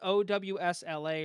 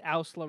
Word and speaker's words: OWSLA: So along with OWSLA or Ausla, however you want to pronounce it, he has Ausla. I think it's pronounced Ausla Records, but he has that's his.